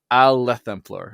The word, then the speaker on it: Aelthemplaer: Well, there are variations of it because I changed it multiple times, but the current iteration is Aelthemplaer or Aelthemplaer.